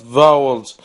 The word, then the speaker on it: values: And we seek to include knowledge and values. Values. From many cultures. When the S is at the end there, in some cases, we want to pronounce it as a Z.